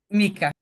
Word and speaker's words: Mika: Carol Si puede ser eh mica o mik no sé cómo se pronuncia tu nombre Perdón Mika Okay Eh bueno La pregunta